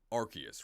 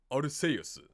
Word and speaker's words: Arceus: i understand it in english it is officially arceus right because silverley's ability is basically great value multi-type right and it's called rks system but in japanese it is one hundred percent without a doubt orisa um as somebody said in the chat it's